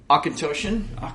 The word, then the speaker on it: Auchentoshan: Auchentoshan? Let's just go there. That is correct, because I've had somebody... Because it's Gaelic.